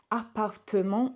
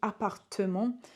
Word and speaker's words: appartement: Appartement. In English, we don't have this E here, but in French we do. Appartement.